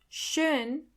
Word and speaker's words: schön: Schön. Schön means beautiful. Do you hear the O umlaut in the middle?